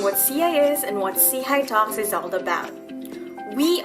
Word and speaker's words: SIHI: CI is and what CHI talks is all about. We are the social innovation and health initiative. See for short, pronounced as CHI, which means upward and forwardlooking. Seihigh is a global network of